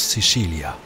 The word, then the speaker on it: Sicilia: En italien, on prononce Sicilia.